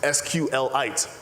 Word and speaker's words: SQLite: Richard Hip, its creator, says it's pronounced sqlit, like a mineral.